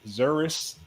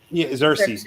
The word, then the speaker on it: Xerxes: killed Envy literally was the reason why the Xeris, if I can pronounce that country correctly, the one that was like technologically advanced, very popular. Xerxes.